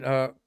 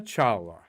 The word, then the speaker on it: Kalpana Chawla: Honoring Kalpana Chawla. I've asked several astronauts, how do you say this lady's name? Kalpana, Kalpana, and then Chawla, Chawla, and they say Chawla, like you're saying Chawla, but then they all say, we just called her KC.